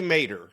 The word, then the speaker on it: Maderer: Is that correctly pronounced, Scott? It's actually Maderer is Maderer.